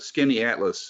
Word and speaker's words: Skaneateles: And Skinny Atlas looks like it would be spelled SKINNY Atlas, and it's not.